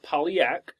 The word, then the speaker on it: Polyak: It's so it's Polyak, like poly and then yak.